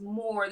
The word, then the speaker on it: Mhoor: that just yet but it is pronounced more the same way the North African Moors or the names I'm